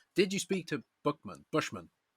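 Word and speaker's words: Peter Buchman: I always call Peter Buckman Peter Buckman, but Joe Johnston calls it Peter Bushman. Bushman. Bushman. So, I've been saying it wrong, I guess.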